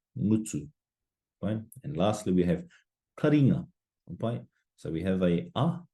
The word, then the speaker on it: taringa: Taringa, taringa.